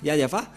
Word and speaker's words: Yahvah: de Mosé si vous ne prononcez pas yayava car le tout le